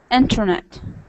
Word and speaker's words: internet: Like interview, center, internet. Oh, okay. Yeah, so you just when this T comes after N, you drop this T and it's pronounced like interview, internet, center. Is it right?